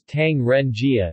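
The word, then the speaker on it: 唐人街: Tong the 4th of January for galley one pronounced as Tang Ren Jia in Mandarin this term literally means street of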